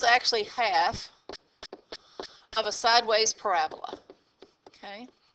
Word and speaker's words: parabola: called a parabola and the emphasis is on the middle syllable Rab so instead of being parabola it's actually parabola okay and so the